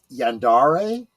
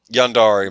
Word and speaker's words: yandere: And before someone says something, I do believe that the term is pronounced Yandere. Yandere, my mistake.